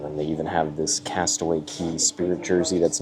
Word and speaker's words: Castaway Cay: because it says best K ever but they've trained you to say Castaway key is the pronunciation the correct pronunciation of the island so for this shirt